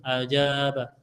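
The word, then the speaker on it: أجاب: saya sudah tahu bacanya hamzahnya hamzahnya fathah jimnya fathah bnya fat Fath alifnya sukun ajaba Sekarang saya mau cari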